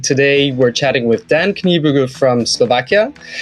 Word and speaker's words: Kniebűgl: Did I pronounce your name right, Dan? Kniebűgl? Yes, very well. Thank you. Because we were actually wondering about it because it sounds German from the pronunciation. It's German name.